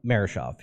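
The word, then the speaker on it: Murashov: Now, is it a chance that Sergei Mershov, if I pronounced that correctly? Sergei. Sergei? Yep. Marashov.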